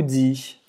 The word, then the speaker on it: dit: Preste atenção que você não vai pronunciar o T no final.